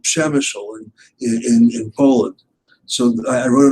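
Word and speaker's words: Przemyśl: I said, no, it isn't Przemysl, it's Przemysl, Przemysl.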